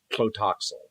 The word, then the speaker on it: Tlotoxl: So this guy's name is Tlotoxl.